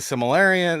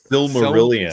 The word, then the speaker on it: Silmarillion: Like they got married, they were married before the events of the Silmarillion. They were married before. I can never say that actually. By the way, Silmarillion. Silmarillion.